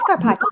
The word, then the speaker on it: Scarpaci: It really should be Scarpaci. Is it Scarpaci? It is Scarpaci.